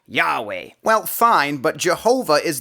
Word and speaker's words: Yahweh: So as common as the name Jehovah might be to your ears, it's not actually the name of God. Rather, our best guess for pronouncing God's name is, in fact, Yahweh.